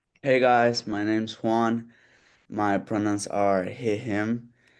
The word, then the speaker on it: Juan: Juan, is that how you pronounce it? Okay. Hey guys, my name's Juan.